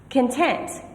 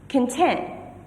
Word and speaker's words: content: Content. Now the primary stress is on this second syllable. Content, which means to be peaceful, satisfied.